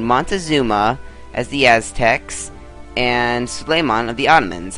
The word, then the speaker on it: Suleiman: as the aztecs and slaymon of the ottomans i think it's suleiman not sulaiman i keep pronouncing it wrong but so basically if